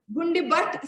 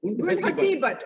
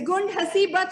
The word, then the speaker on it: Gund Hasibat: If I'm pronouncing it rightly. Gund Hasibat. Oh, Gund Hasibat. Okay, let me correct it. It's Gund Hasibat, Srinagar, Sania Afroz.